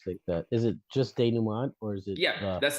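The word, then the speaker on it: dénouement: first word you said I've never heard so day new m it's spelled D e n o u e m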